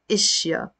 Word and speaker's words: إشياء: I'd rather put the Hamza under it because in the Lebanese dialect we say إشياء, things.